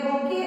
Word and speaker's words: bouquet: Next one, a bouquet of flowers. A bouquet. B-O-U-Q-U-E-T. It is written as bouquet, but we pronounce it as bouquet.